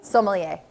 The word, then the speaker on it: sommelier: Sommelier.